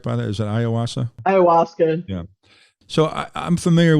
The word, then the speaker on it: ayahuasca: So I've read about Aaron Rodgers' experience with ayahuasca. Did I pronounce that right, by the way? Is that ayahuasca?